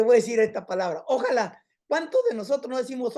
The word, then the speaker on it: ojalá: Ojalá es una palabra de la clase pasada que debería de haber dicho, porque ojalá viene este término de los musulmanes. Ojalá quiere decir quiera Alá. En otras palabras, nosotros los